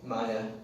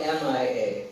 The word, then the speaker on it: Mia: Maya. It's spelled M-I-A. Some people would say Mia, but her father would call her Maya.